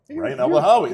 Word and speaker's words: Rayan Elbanhawy: if you get close, how do you pronounce it? Uh Ryan Elanhoi. Okay. Ryan Elahawi.